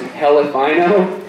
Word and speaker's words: Elephino: Next, I'd like to introduce Elephino, pronounced Helifino.